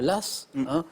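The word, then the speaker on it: Law: sais par joe hart l'eau qu'on prononce parfois l'as ça s'écrit john l'ol a w john lass est il un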